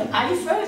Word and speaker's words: Eifel: Il a pris le pseudonyme de Eiffel, qui d'ailleurs est une région d'Allemagne, le Eifel, quand on le prononce correctement, parce que Bonnickhausen, ça faisait un peu difficile à prononcer en France.